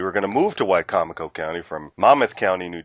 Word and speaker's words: Wicomico: And just for the listeners, Wicomico County is over in, and the reason I can pronounce it properly is only because we were going to move to Wicomico County from Monmouth County, New Jersey.